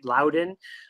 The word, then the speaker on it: Loudoun: Mandy you nailed it that's exactly how you say it loud in um so I got